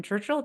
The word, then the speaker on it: Churchill: for you guys Dan Churchill did I say your last name right na it all righton so like how to say it just think of the the Prime Minister of England during a pretty momentous